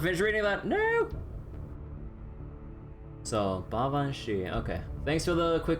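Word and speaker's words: Baobhan Sith: Apparently it's pronounced like Bavan Shi. Oh right, oh right. I remember if you guys told me or read this up before, the Sith part doesn't read like actually Sith, right?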